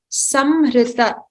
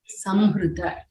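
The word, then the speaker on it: संहृत: So somebody had asked how to pronounce it. Samhrita. The makara should be pronounced completely. Samhrita.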